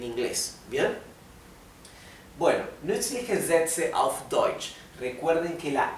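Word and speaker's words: deutsch: la u es o por eso esto se pronuncia deutch deutch el sonido de la ch de la ch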